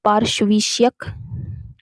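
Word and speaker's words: पार्श्विक: इसका जो सही जो उच्चारण होगा वो होगा पार्श्विष्यक।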